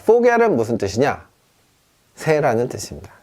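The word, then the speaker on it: Vogel: 자, 얘는요, 당연히 그러면 보겔이 아니죠. 보겔 하고 싶은 마음 저도 알아요. 알지만 얘는 포겔입니다. 포겔. 자, 포겔은 무슨 뜻이냐?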